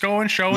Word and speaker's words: Schoen: willing to do it after the infamous Joe Schoen, I think that's how you say his name, Schoen, yeah.